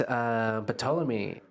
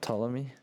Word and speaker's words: Ptolemy: Or I think the P is silent. I don't know. Yeah. But anyways, so let's see here. Ptolemy. Ptolemy. It's just Ptolemy. Ptolemy.